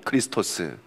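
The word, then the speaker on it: Χριστός: 있습니다 굉장히 무식한 사람이죠 x가 아닙니다 이거는 영어의 말할 x가 아니고 헬라에서 말하는 키입니다 키 키라고 이런데 CH 발음이납니다 그래서 크라는 말이고 고다음 보시면 피 피같이 생긴게 R 발음이 나옵니다 그래서 크리스토스 이렇게 있는데 그리스도라는 의미를 가지고 있습니다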